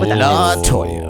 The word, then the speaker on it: Letoya: And it's spelled cool, Yeah. her name. It's LETOYA. Whoa. LaToya.